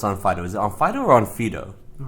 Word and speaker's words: Onfido: I've heard this both ways how do you pronounce onfo is it onfo or on Fido all right good question it's it's onfido and and the way it's written in in